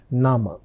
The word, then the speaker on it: Name: Look at the spelling. It's written just like English word name but the pronunciation is nama.